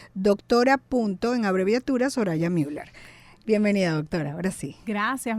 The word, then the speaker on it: Müller: Síganla en su Instagram, que por cierto estamos en live, se escribe así. Soraya, pero se dice Soraya Müller. Doctora punto, en abreviatura, Soraya Müller.